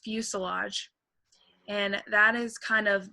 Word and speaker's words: fuselage: And then that word in the middle is pronounced fuselage.